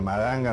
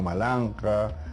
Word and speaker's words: Maranga: y toda la toponimia, Maranga no era Maranga, sino Malanja, Lurigancho no era Lurigancho, sino